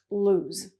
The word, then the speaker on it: lose: So there's only 1 O, but it's pronounced lose.